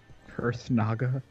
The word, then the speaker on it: Kurthnaga: Kurthnaga? Kurthnaga?